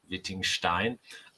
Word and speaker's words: Wittgenstein: So Wittgenstein, I say Wittgenstein, not Wittgenstein. I say it properly. Wittgenstein.